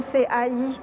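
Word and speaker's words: 财: 有 CIE。Par exemple, vous pouvez voir partout l'inscription CAI, donc qui se prononce Cai en chinois, qui a exactement le sens de fortune.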